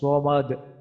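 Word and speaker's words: صمد: আল্লাহুস সামাদ, এখানে সামাদ, আমাদের common mistake হচ্ছে, কমন ভুলটা হচ্ছে আমরা আল্লাহুস সামাদ, তো এখানে সামাদ না, আমরা এখন জানি সদ মোটা করে পড়তে হয়।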